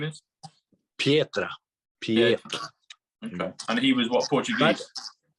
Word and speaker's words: Pietra: Pietra.